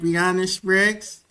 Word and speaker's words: Breanna Spriggs: Is that how you say it, Breanna Spriggs?